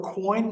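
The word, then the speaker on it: quoins: Coin is the term you would use. Okay. And it's spelled Q-U-I-O-N-S, not coin like money in your pocket.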